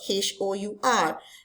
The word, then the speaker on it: hour: For example, hour, h o u r. Even though the word is spelled with h and not a, but when we produce sound or when we uh, pronounce it, we use silent H.